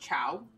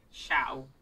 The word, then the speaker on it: Shao: I think it's pronounced Chow. Chow. Chow. I'm pretty sure. With an SH. Oh, yes. My mistake. Shao. Shao.